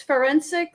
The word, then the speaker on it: Ferencik: you did great um it's forensic like like like and it's girl in